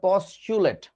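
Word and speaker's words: postulate: কি জানো স্বীকার্য যোগ্যকে ইংরেজিতে বলা হয় পচুলেট পি ও এস টি ইউ এল এ টি ই পশচুলেট উচ্চারণটা পসচুলেট জাস্ট লাইক সিচুয়েটেড হুম তো পচুলেট জিনিসটা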